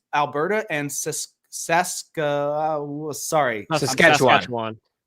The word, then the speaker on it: Saskatchewan: But the problem is these conservative provinces, Alberta and Sask Sask, sorry, Saskatchewan. Saskatchewan. I'm so bad at pronouncing.